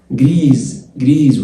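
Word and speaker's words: grise: جريز والاس من حرفين متحركين اتنطقت زد.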